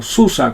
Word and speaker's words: SUSE: Les hablo de SUSE o SUSE, como les gusta que pronuncien el nombre de su distro.